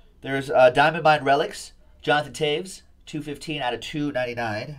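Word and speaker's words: Toews: Jonathan Taves, 215 out of 299. I don't see a V there, but I've been told that that's how you pronounce it.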